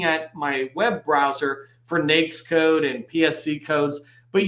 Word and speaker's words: NAICS: repository in their guidance it says it is pronounced nakes like snakes not any other way the reason